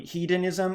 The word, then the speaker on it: hedonism: I'll pronounce it a little more clearly. Hedonism or hedonistic. H-E-D.